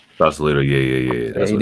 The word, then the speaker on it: Sausalito: It's Sausalito. Sausalito, yeah.